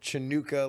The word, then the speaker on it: Hanukkah: do me a favor pronounce it chanukah like smokey robinson did okay all right oh